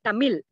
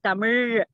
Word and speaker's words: Tamil: Because many people say Tamil. Actually, it is Tamil. So all the pronunciation also comes with the mother tongue.